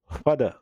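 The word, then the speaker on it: father: फादर, बस are silent है।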